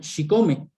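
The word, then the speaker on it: chicome: también el número 7 en náhuatl se pronuncia si come si nosotros pronunciamos el número 7 varias veces si comes como méxico mi chico me bueno méxico quiere decir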